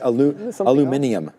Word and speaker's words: aluminium: And there was one other one, car, pharma, and was it aluminium? Aluminium, which is how you say it.